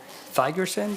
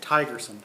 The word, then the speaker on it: Thigerson: by the interim president, Thigerson, did I pronounce that? Tigerson. Tigerson, Yeah, sorry. silent H.